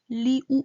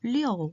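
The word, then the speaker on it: liu: 리우 아니고 리어 해야 돼요.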